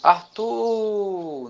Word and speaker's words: Arthur: Qual foi a sílabazinha que se arrastou? Olha, Arthur. Foi a segunda sílaba, né? O tu, certo?